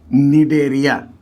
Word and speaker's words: Cnidaria: लोग पढ़ेंगे वो है डेरिया तुम लोगों को बता चुके हैं कि यहां पर सी साइलेंट है सी को पढ़ा नहीं जाएगा तो क्या पढ़ा जाएगा डेरिया या इसका पुराना नाम